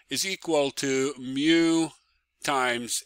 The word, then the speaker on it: mu: The friction force F is equal to mu times N. Let me write it better. Mu is a Greek letter, and you pronounce it as M and U, mu, okay?